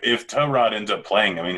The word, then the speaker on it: Tyrod: finally someone asked he's like no it's actually pronounced to Rod I thought it was T-Mobile that that was the nickname they already gave that's his nickname but his actual name name is to Rod okay fair enough continue that was it that